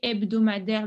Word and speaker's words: hebdomadaire: Et après, une durée hebdomadaire, le H, il est toujours muet en français. Donc, on ne prononce pas le H.